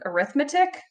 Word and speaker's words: arithmetic: we're gonna look at arithmetic sequence and series yes I know this really says arithmetic but it is pronounced arithmetic when you're talking about sequences series so if I give